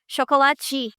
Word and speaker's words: chocolate: The word chocolate in Portugal, you say to I eat the e in the end just like I would eat the chocolate, right? But if you doing the pronunciation in Brazil, it would be chocoli.